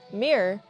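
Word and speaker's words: mirror: तो इसका उच्चारण करने के दो तरीके हैं। पहला तरीका दो अक्षरों मीर-एर (मिर-एर) के साथ है। और दूसरा तरीका यह है कि जब आप बहुत तेजी से बोलते हैं तो आप मीर कहते हैं। संयुक्त राज्य अमेरिका में लोग सामान्यतः इस शब्द का उच्चारण मिरर (मिरर) करते हैं।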